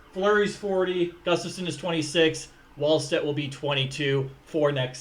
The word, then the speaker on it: Wallstedt: And I keep saying Wallstedt, but the W is pronounced like a V, like Wallstedt.